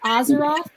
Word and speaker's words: Azeroth: little old me um Theory Taco is it ozeroth Azeroth oh yeah you got that right no more people pronounce it off but you're right those are